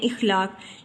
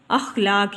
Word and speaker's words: اخلاق: غلط بول جاتے ہیں، جیسے ہم لفظ بولتے ہیں اخلاق، لیکن صحیح تلفظ ہے اس کا اخلاق، یعنی الف کے اوپر زبر کی علامت آتی ہے، الف کے نیچے زیر کی علامت نہیں آتی، تو یہ لفظ بن جاتا ہے اخلاق۔ پھر ہے جمود، جمود